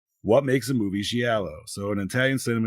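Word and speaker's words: giallo: what makes a movie gello so in Italian Cinema gello pronounce yellow plural Italian for yellow we've all discussed this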